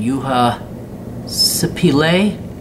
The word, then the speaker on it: Juha Sipilä: Juha, Finnish pronunciation, Juha Sipilä, born in Vitelli, 1961, current prime minister, a relative newcomer to politics.